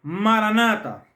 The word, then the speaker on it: maran ata: Aunque en su pronunciación la han tergiversado, ¿por qué no se pronuncia Maranata? Porque no es una sola palabra, sino son dos. Marán, nuestro Señor ata viene maran ata.